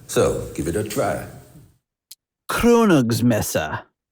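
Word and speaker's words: Krönungsmesse: say kr is pronounced it's more upfront in the mouth. So give it a try. Kronogs messa kronog messa.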